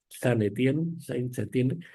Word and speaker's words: Saint-Étienne: de minas de Saint-Étienne, más o menos se pronuncia así, Saint-Étienne, que es una localidad